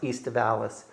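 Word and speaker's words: aestivalis: It's the the Latin term would be pronounced east of Alalis.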